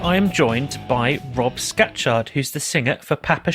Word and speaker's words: Scatchard: I'm very good, thanks, and I'm even better and more impressed that you pronounced my surname correctly. So that's very good. Normally it's scratch card or scrapyard, so you've got it absolutely spot on, so that's a good start.